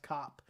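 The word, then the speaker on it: Kape: I can't stand that his last name is pronounced Cop and not Cape.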